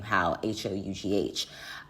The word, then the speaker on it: Hough: a teenager, Jennifer Hough, I believe she pronounces her name Hough, Hough, then said that Nicki Minaj